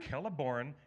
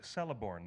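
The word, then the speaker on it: Celeborn: you this letter that when you have a letter C before any vowel sound it's a hard K that's why scred an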